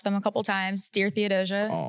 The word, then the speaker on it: Theodosia: Dear Theodosia. Theodosia, right? That's how you pronounce it?